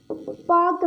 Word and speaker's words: Palk: तो यहाँ पर एल साइलेंट रहता है तो पाक आ जाता है।